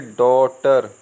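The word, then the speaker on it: daughter: इसको कॉज इसे बोलेंगे नोटी नोटी इसे बोलेंगे डॉटर डॉटर जैसे ये लिखा है ना डी डी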